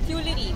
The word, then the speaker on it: Tuileries: the entire garden which is there, and this is the Chaudet, the Tuileries, which is how you pronounce it in Paris, in Francais.